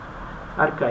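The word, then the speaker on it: arXiv: Si ustedes quieren ver el artículo completo, entran aquí en Archive o Archive. Archive es la pronunciación.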